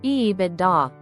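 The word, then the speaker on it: EBITDA: Ebida, pronounced Ebida.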